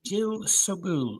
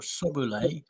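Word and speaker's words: Jill Sobule: s 66 today is Jill subul or sole pronounce it how you like s o b u l e she's an American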